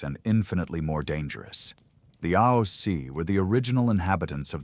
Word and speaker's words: Aos Sí: The Aos Sí, pronouncits called them Aos Sí, and they were neither ghosts as we understand them, nor demons from any hell described in modern religions.